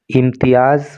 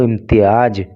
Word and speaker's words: इम्तियाज़: इम्तियाज़ A Jamia is the highest award of Jamia Millia Islamia. और इम्तियाज़, देखिए ये चूँकि जैड है तो इसको इम्तियाज नहीं बोलेंगे, इसका प्रोनाउंसिएशन करेंगे इम्तियाज़।